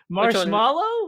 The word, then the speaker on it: marshmallow: over kid how's the the marsh comes out so clean and i mean phonetically i think you are you are on it but like i can't change it's filled with an a not an e right yeah yeah when